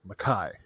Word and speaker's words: Mackay: David McKai is actually spelled McKay but it's pronounced maai so I'm just going to call him Mai I might I might slip up and call him McKay who knows but whatever yeah who cares an